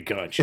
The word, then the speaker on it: Conti: He said Conchi. Okay. Yeah, he said that it's officially Conchi.